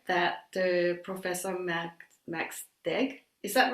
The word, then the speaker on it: Deeg: am very honored that the professor max max deg is that right pronounced your name yeah yeah a professor in